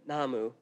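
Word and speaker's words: 나무: um it this tree the namu or um and I hope I'm pronouncing that right um yeah it is correct namu yeah okay one of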